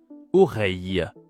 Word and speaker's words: oreille: Il s'agit du son ye comme dans travail. Oreille.